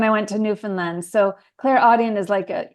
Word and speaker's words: clairaudient: So you said you had several signs and you had these like clairaudient audience, or how do you say it?